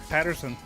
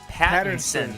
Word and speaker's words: Pattinson: new Batman is captain trickster yeah it's Robert Patterson Oh Peterson Robert Robert Pattinson Pattinson that's a difficult name to pronounce so yes but there's a lot of